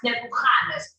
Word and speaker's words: Nebuchadnezzar: In Hebrew, we pronounce Nebuchadnezzar. More in the back of it.